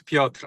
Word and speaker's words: Piotr: I know it's pronounced like it's spelled Piotr. Yeah, it's Piotr actually, because Piotr.